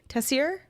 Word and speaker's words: Tessier: Tessier.